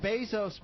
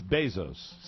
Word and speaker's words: Bezos: And I mispronounced his name again, didn't I? It's Bezos. It's Bezos. See, I'm not Is he one of yours? No. Bezos. Just the way he says it.